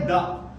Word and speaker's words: the: Third जो है द। कभी इसको द का प्रोनाउंसिएशन दिया जाता है तो कभी दी का दिया जाता है, ठीक है, दी ऐसा बोला जाता है।